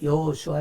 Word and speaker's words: 여호수아: 그 이름을 예수라 하라 예수는 이제 헬라어 발음이 거고 히브리 바르는 여호수아 이미라 악어 로 여호수아 라고 해라 이렇게 말을 했다는 거예요